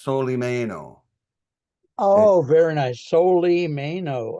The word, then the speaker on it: Solimeno: My last name is pronounced Soleie Mayo.